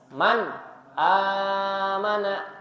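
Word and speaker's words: مَنْ آمَنَ: misalkan huruf alif yni Man amana maka mannya harus jelas Man amana jadi nunnya harus dizahirkan atau dijelaskan bukan bukan Bukan tapi Man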